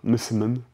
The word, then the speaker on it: messemen: messemen, d'autres types encore, messemen, comme ça qu'on prononce.